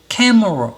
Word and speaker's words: camera: 여기는 캐 소리를 낮으면 camera 이렇게 소리를 내다 보니까 여기 2개는 제대로 소리를 내지 않고 있잖아요.